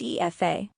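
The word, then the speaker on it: Aoife: we have epha another beautiful Irish name it's pronounced e FAA think of it as he e like an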